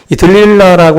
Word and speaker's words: 들릴라: 근데 이 노래가 이제 영어 발음으로 이 딜라일라라고 하고 이제 히브리어로다가는 지금 우리 성경에 번역되어 있는 이 들릴라라고 하는 이 발음이 사실은 가장 원어에 가까운 그런 그 발음이라고 그래요.